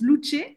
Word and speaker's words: Luce: Euh tu fais absolument tu es très bien renseigné Michaell donc voilà donc juste en fait mon nom se pr se se prononce loucher puisque c'est d'origine italienne.